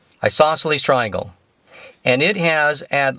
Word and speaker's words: isosceles: an i sauce sales isosceles the c is silent isosceles triangle and it has